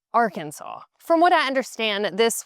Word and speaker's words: Arkansas: State code 1-4-105 states that if you were to pronounce the state Arkansas, that that would be explicitly incorrect and the only proper way to pronounce it is Arkansas.